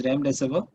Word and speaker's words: Remdesivir: It's actually Remdesivir. Okay, it's Remdesivir. Okay, Remdesivir is the name of the I always get the pronunciation wrong. It's Remdesivir.